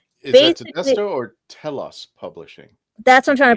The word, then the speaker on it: Telos: Toy Dalek, and Is that basically, Tedesto or Telos Publishing? that's what I'm trying to pronounce.